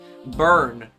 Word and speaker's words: Byrne: I don't wanna, like, Let me see, how is this name pronounced? Burn. Burn, that's how it's pronounced.